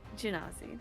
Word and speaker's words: Genasi: pronounced it exactly perfect It's for me. Genasi. Yeah. It's Genasi.